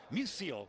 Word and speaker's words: Musial: you'll like this we we always set this name wrong here but number 20 is mark Musil as you say for Stan Stan Musial mark Museo spelled properly